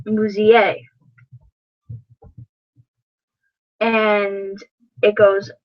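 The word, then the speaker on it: музей: Like in the word for museum, it's pronounced musée.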